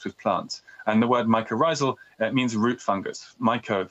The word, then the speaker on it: mycorrhizal: Okay, and then there's the last term that I think is really interesting, is mycorrhizal. Am I pronouncing that right? That's right, mycorrhizal.